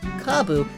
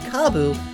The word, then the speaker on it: kabu: japanese word for turnip kabu and the japanese word for stock kabu are both pronounced the same way like how in english